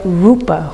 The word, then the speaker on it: rupa: Try and get the Pali pronunciation or the Sanskrit pronunciation, please, rather than Portuguese.